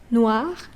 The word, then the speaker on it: noir: Noir. Noir. So it's not noir, okay? It's not noire. It's noir.